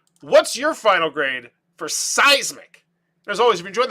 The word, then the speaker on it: Cysmic: thing at all but I'm gonna go with a hard C a hard C in a spidey sense but let me know in the comments below what's your final grade for seismic as always if you